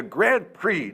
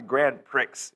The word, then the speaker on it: Grand Prix: like damn it Flexo it's the Grand Prix not the Grand Pricks you idiot and he